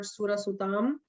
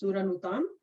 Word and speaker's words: Suranutam: I've also heard Surasutam, but I use Suranutam.